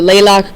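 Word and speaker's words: Tlaloc: Another god that you saw on your gallery walk, the Laylock god, silent T there, is the god of rain.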